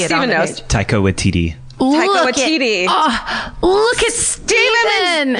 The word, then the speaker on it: Waititi: And is it Watiki? I don't know how to pronounce that guy's name. I panic when I see it on the page. Taika Waititi.